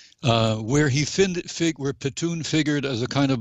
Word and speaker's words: Pitun: mr patoon is that pitune rhymes with spittoon but this is one